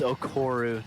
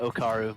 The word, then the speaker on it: Okuru: But It's Okuru, not Okaru.